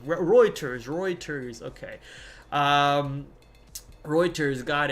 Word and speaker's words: Reuters: Is that how you say it? Reuters. I thought it was Roers. Roers. R E U. Maybe I'm I'm saying it wrong. Reuters.